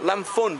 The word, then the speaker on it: Lamphun: it's spelled A... L-A-M... P-H-U-N, Lamphun, but they call it Lamphun.